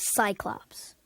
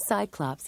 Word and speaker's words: Cyclops: your head the Giants named Cyclops has an s-sound because it comes before the letter Y icebox the sea and